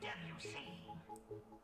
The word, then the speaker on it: Debussy: Is it A, Giuseppe Verdi, B, Georges Bizet, C, Giacomo Puccini, or D, Claude Debussy? And yes, it's pronounced Debussy. Debussy. Debussy. Debussy. It was never Debussy.